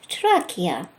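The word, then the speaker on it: Тракия: Talking about Ether, I wonder, do they have an idea that there are lands in the world called trachea, trace in English pronunciation?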